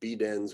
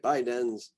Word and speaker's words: Bidens: So Brisa, Bidens, you could go Bidens with that, but I think most people say Bidens.